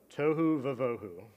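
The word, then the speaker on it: tohu va-vohu: that after me we're gonna try tohu Hu tohu vivahu I'll write on the Whiteboard sorry teacher instincts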